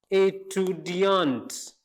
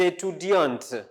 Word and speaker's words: étudiantes: Vous êtes des étudiantes. Notice here I didn't pronounce T, but here I pronounce it. Des étudiants, des étudiantes.